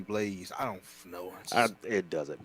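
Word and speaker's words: BlazBlue: that's why they just called it blows over there but supposed to be blaze I don't know it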